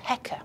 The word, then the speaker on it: Heka: It's basically a crook, a sceptre, and that's written with two symbols, and that's pronounced Heka.